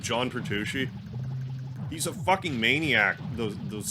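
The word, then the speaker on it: Petrucci: name wrong John P I always want to call him Tom pushi but John pushi he's a Maniac those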